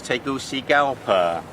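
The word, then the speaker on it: Tegucigalpa: a very big country the capital took me about a week to learn its pronunciation which was taking all see gal per I'm very pleased to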